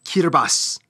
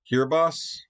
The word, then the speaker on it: Kiribati: It's pronounced Kiribati. For some weird reason. Kiribati. Kiribati. Okay. All right. I was way off. I'm sorry. I was way off. The T-I makes an S sound. Kiribati.